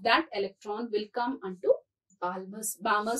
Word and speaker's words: Balmer: electron will come unto Balmer series. L is silent.